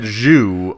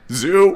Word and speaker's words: zoo: Oh, I had said Zhu accidentally because it's very difficult to pronounce. Zoo.